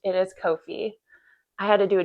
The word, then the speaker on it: Ko-fi: Yes, that's how it's pronounced. It is Kofi.